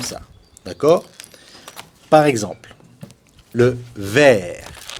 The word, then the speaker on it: vert: Alors qu'au masculin singulier, comme le T, c'est la dernière lettre, on ne prononce pas la dernière consonne. On prononce jusqu'au R.